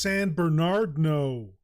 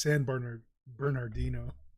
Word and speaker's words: San Bernardino: It's pronounced San Bernardino. Just kidding. I'm fucking around. It's San Bernardino. But I like to call it San Bernardino.